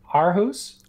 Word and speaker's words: Aarhus: Aarhus? Aarhus, okay. Aarhus. Aarhus. It's like an O.